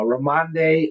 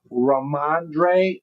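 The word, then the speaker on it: Rhamondre: Uh uh Ramande Ram Stevenson. Did I say it right? Let's see. Ramandre Ramandre Stevenson.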